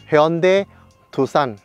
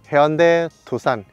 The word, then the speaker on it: Hyundai Tucson: 那这台车真正的念法是 Hyundai Tucson，对，Hyundai Tucson。